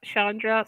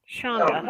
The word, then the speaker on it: Shonda: sweet lady um Shonda did I say Chandra sometimes I want to add that R in there now he's got to be saying it wrong again it's Shonda okay see I was wrong